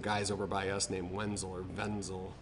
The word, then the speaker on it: Wenzel: over by us named Wenzel or benzyl they're German so they pronounce it with a V but they make all